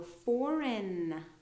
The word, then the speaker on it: foreign: So foreign. No G sound at all.